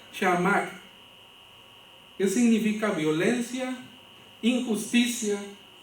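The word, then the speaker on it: חמס: el ver en el la palabra en hebreo se se pronuncia chamac Qué significa violencia injusticia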